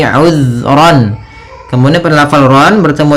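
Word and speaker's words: عُذْرًا: Kemudian ayat selanjutnya uzron. Di sini uzron. Hati-hati dalam pfalan zal. Usahakan ya usahakan di sini jangan sampai memantul jangan uzr ya tapi uzron.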